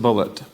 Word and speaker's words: Bulliet: One of the interesting writers of our time is Richard Bulliet, and he spells his name Bulliet, but he pronounces it Bulliet.